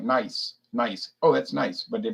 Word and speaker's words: Nice: Nice. Oh, that's nice, but they pronounce it Nice.